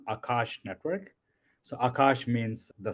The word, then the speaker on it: Akash: So it's uh it's pronounced Akash network.